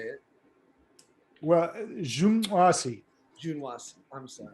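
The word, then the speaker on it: Juǀʼhoansi: Well, Zhengwasi. Junwasi, I'm sorry. Yeah, say Zhuwasi. There's a click in it, but you just say Zhuwasi. That's the way people like me say it.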